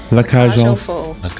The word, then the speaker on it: La Cage aux Folles: Foal, you don't pronounce the L's. The L's are just gone.